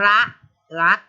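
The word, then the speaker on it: พระลักษมณ์: คะ เห็น ไหม คะ แล้ว จะ อ่าน ออก เสียง เฉพาะ รอ อะ กอ รัก แต่ ตั้ง แต่ ซอย ศรี มอ ม้า นอน in ตัว นี้ มัน ถูก ฆ่า ไป แล้ว ไม่ ออก เสียง ค่ะ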